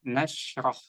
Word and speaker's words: نشرح: Tadi jangan dipantulkan ya Kak. Bacanya nashrah. Nashrah. Jadi tidak memantul karena shin ini bukan huruf qalqalah.